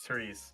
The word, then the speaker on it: Therese: Oh, see, this guy in the comments said I pronounced it correctly. It's Therese. My bad, man.